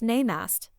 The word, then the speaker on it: Namaste: Between gasps of breath, my friend managed to say, "It's pronounced Namaste."